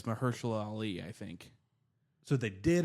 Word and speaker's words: Mahershala Ali: It's Mahershala Ali, I think.